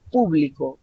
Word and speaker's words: público: que ustedes puedan verificarlo si yo digo público con la fuerza vocal al inicio en la primera sílaba ustedes van a verificar